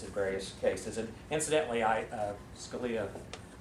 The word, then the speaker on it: Scalia: And incidentally, Scalia rhymes with Sharia, and it reminds me that the title of this talk of mine is "How do you solve a problem like Sharia?"